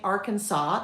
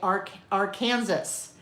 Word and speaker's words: Arkansas: Um, YouTubers in Europe often can't say Arkansas. They say ar Kansas. Our Kansas. Yes. Well, that would make sense. If English is not your first language, uh, you would totally think that was our Kansas because Kansas is Kansas. So, if you put an ar in front of it, wouldn't it be our Kansas?